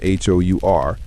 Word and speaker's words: hour: The word our H O U R starts with a consonant H, but the H is silent.